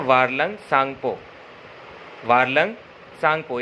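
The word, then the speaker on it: Tsangpo: हम बोलते हैं वारलंग सांगपो। वारलंग सांगपो, इसमें टी को हम प्रोनाउंस नहीं करते। जब टी और एक्स एक साथ लिखा होता है, टी और एस, तो हम टी नहीं पढ़ते, सिर्फ सांगपो पढ़ते हैं।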